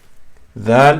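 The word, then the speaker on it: دال: So dal, touch the tip of the tongue with the tip of the teeth softly.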